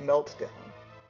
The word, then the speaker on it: Meltdown: I always thought it rhymed with the name Martin. Well, you know, this is originally a Japanese game, of course, everyone probably knows that, or many people do. And they make it sound as much as they can, like, meltdown. So, the correct way the Japanese players of the game would pronounce it would be something like meltdown, because the way their alphabet works.